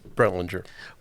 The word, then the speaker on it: Brentlinger: Mr., or should I say Minister, how do you pronounce that last name? Brentlinger.